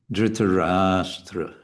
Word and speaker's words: Dhritarashtra: So it's going to be dhritarashtra. Dhritarashtra. And sometimes there's no harm in a little bit exaggerating the long syllables.